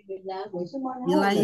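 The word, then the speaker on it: إليه: Ila ketika bersambung dengan isim domir jadi ilaihim. Ilanya jadi ada ya-nya jadi ilai. Isim domir yang tadinya hu dibaca hi jadi ilaihi.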